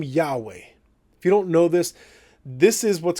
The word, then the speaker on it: Yahweh: He was saying that there's a popular theory that the name Yahweh, if you don't know this is what's called the Tetragrammaton.